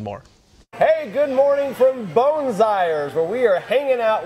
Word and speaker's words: Boonzaaijer's: he is with more hey good morning from bones Eyres where we are hanging out with chef Stephen bones i er two for two we're good okay if you can't pronounce that just look for seriously it's a